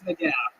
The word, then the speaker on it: McGough: It's McGough.